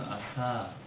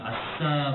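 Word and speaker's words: עשה: 이 지키다라고 하는 말은 히브리어로는 아사, 이 발음은 아싸 발음이 아닙니다. 아싸, 그거는 전에 제가 말씀드렸던 것처럼 의성어였어요. 성경에 기록되어 있는 의성어, 이런 말. 여기서 아싸 발음이 아니고 아사, 이런 약한 발음인데 이 아사라고 하는 단어를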